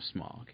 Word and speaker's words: Smaug: Because I've always said Smaug. I know it's probably incorrect, but I'm like, I've always said Smaug, and they Smaug. No, it's they're British, so they kind of say it right, but it's always been Smaug in my mind. But yeah, and Smaug wouldn't rhyme with smog and fog, which is in the ending song.